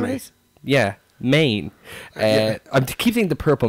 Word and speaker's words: Maine: It's the only state with one syllable in the whole of the United States.